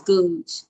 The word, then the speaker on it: Googe: it right all right my last name is googe like scrooge but i'm not a